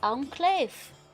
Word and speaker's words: Enclave: It's pronounced enclave.